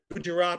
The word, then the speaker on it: Gujarat: Is that how you pronounce it? Yes. Gujarat or Java, as often as not, it's mishmash, unfinished, it adds up to nothing at all, and I don't care.